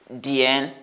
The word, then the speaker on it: 点: 点点点, because it has third tone. 点.